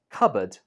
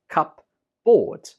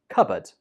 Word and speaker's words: cupboard: Word 9 is cupboard. Cupboard. Now, of course, I can understand why some students would pronounce this one wrong, because if you read it as cupboard.